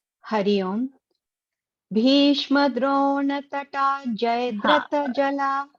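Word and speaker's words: जयद्रथ: Bhishma Drona Tata Jayadratha Jala Gandhar. See, Jayadratha, ya is having blue color. Where is your pronunciation going? Jayadratha Jala. Jayadratha Jala. Tha is a Mahaparana.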